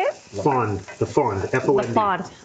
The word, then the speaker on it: fond: That is what we call the fond. How do you say it? Fond.